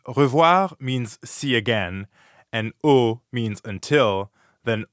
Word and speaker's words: au: normally do in english try to hear the difference between an english o o versus the french is spelt a u and here it means until so if revoir means see again and o means until then o